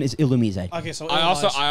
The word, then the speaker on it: Illumise: right now I actually found out the actual pronunciation is illumise okay so I also I also wanted to